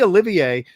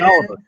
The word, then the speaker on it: Olivier: He goes, it's French, so it'd be Olivier, but he'll tell you it's Oliver.